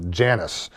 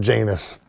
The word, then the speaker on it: Janus: And this was partly to honor the month, the namesake of the month, Janus, not pronounced Janus, the Roman god of beginnings, whose two faces allowed him to look back into the past and forward into the future.